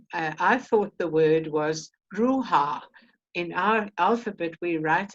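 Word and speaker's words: ܪܘܚܐ: And they said, no, it's ruha. Ruha. They just breathe the H-A. They don't say it. They don't voice it.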